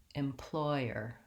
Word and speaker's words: employer: let's look at employer the word employer has three syllables and it has second syllable stress I can see that with a little line in the dictionary right before the ploy syllable so it has a